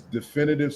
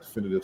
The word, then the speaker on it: Defynitive: So again, our company is definitive solutions, right? But it's spelled differently.